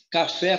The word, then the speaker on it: café: Por exemplo, aqui embaixo, ó, a palavra café, por que ela é acentuada? Primeira coisa que eu faço, identifico a sílaba mais forte. A sílaba mais forte de café está no fé.